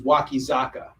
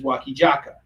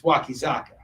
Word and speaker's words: Wakizaka: story his name is wakizaka but the koreans they don't have a z sound they have a j sound so anytime they see